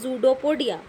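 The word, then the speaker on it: pseudopodia: तो जूडोपोडिया की यहाँ पे आप स्पेलिंग देख रहे होंगे कि पी लिख रखा है स्टार्टिंग में। ठीक है, स्टार्टिंग कहाँ से हो रही है? पी से हो रही है जूडोपोडिया की। लेकिन मैं इसको बोल रही हूँ जूडोपोडिया, तो इसका मतलब इसके अंदर क्या है? पी साइलेंट है। तो आप क्या प्रोनाउंस करोगे इसको? जूडोपोडिया। जूडोपोडिया क्लोजेस टू फॉर्म ए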